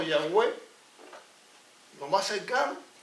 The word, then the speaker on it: Yahweh: Ese nombre no tiene vocales. Aquí está YHWH. Unos dijeron sencillamente, pusieron una aquí y sería lo más cercano, Yahweh, lo más cercano.